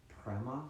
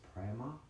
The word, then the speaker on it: prema: The second word is prema, but so it's prema, P-R-E-M-A, P-R-E-M-A, prema.